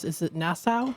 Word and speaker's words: Nassau: And then, how do you pronounce it? Is it Nassau? Nassau.